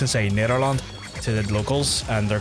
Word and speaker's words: Nederland: a little mustard on the G in the Netherlands, Nederland, and I can't do it. I can't seem to get the mustard on it as much as I would like to. It's like a hard G and a soft G, depending on like the province you're in and stuff, but I